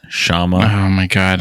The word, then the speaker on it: Kshama: actually kind of popular Brian it's pronounced Shama hi oh my god